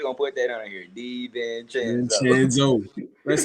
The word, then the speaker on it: DiVincenzo: Hey, DaVincio, when you see this, boy, you need to teach us how to pronounce that. DiVincenzo.